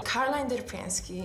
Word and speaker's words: Caroline Derpeński: To jest jedyna poprawna wymowa. Caroline Derpeński.